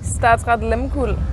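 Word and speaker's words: Statsraad Lehmkuhl: She is with a Norwegian ship, and we have been struggling with the pronunciation, so can you please pronounce it for us, please? Statsrad Limpool.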